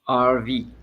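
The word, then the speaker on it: Hervé: RV, because I would say Harvey in French, but it's RV.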